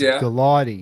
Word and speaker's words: Gulati: to convince Joe gooey is it gulati gulati go it's a hard G so it's Galati yeah it's galani I